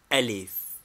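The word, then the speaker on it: ألف: pronunciation are as follows name elif equivalent a e i o or U pronunciation this is the spiritus lenis of the Greek a mere prop to rest an initial vowel on name B equivalent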